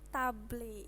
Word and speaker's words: table: Ini table, ini artinya itu meja. Membacanya table. Kenapa table? Karena ini A ini kalau dalam bahasa Inggris itu dibacanya A. Jadi cara membacanya adalah table.